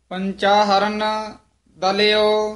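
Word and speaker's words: ਪੰਚਾਹਰੁ ਨਿਦਲਿਓ: पंचाहरण दलियो, हाँ, पंचाहरुण दलियो, ये पाठ ध्यान नाल उच्चारण करना है। लिखिया है पंचाहर निदलियो, पर संपा संप्रदाय च ये पाठ कराया जाता है। पंचाहरुण दलियो, पंचाहरुण इकट्ठा ही पाठ है।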